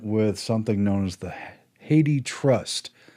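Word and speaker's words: HathiTrust: something known as the haiti trust it looks like happy trust but they say it's pronounced haiti much like the country and it's a reference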